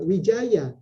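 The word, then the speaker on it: Widjaja: Kalau misalnya ada, misalnya begini, WIDJA, dibacanya apa? Wijaya, karena DJ dibaca J dan J dibaca Y.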